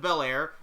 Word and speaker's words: Belair: If Bianca Belair can use her hair, Nosferatu can use his nose. Listen, it works, alright? Hair rhymes with Belair.